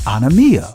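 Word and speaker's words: ἀνομία: Remember, the Greek word for iniquity is pronounced anomia, which means violation of the law, wickedness, transgression of the law.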